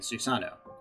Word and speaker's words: Susanoo: or as many of us americans say them amaterasu tsukiomi and susano more than likely you've heard all three of